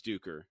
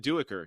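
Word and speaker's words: Duiker: when I read it I thought it was duker yeah but he said duecker yeah so yeah right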